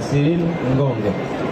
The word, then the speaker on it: Cyril Ngonge: tuo nome e il tuo cognome Eh si pronuncia cil ngong perfetto abbiamo